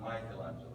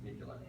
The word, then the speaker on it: Michelangelo: It's not Michelangelo, it's Michelangelo. But it doesn't matter.